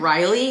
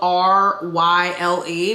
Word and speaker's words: Ryle: Okay, so the first time I read this book, I was calling him Riley. It's spelled R-Y-L-E, but I guess it's Ryle, because then his sister has